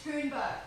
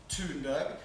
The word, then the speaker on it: Thunberg: It's pronounced Thunberg, Dad. Greta Thunberg.